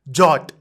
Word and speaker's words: JWT: others will also try jot oh this jot JWT stands for Json web token in short we call it as jot because it is easier to pronounce so we'll say jot